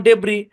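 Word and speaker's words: debris: ওকে যেসব জায়গায় এস উচ্চারিত হবে না। চলেন খেয়াল করেন। সাইলেন্ট এস এর ধরাধার কোন রুল নাই। তোর রুল না থাকলে কি করতে হবে? আপনার ডিরেক্ট মুখস্ত করতে হবে যেমন ডেব্রি বটজিও আইল আইল্যান্ড ভাই শুনেন সেকশন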